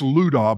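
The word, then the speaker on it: Lydda: Saints who dwell at Lada it's how I pronounce it actually in Greek it's Ludo but I just look at it and say little can y'all say Amen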